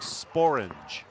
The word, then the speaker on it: sporange: Apparently the word sporange. Sporange. Is an English word. I can't remember what it actually means, but it is a word. It's in a dictionary, and it does rhyme with orange.